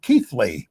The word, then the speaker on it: Keighley: We had to look up how to pronounce it. It's called Keighley. Yeah. But it's not spelled that way.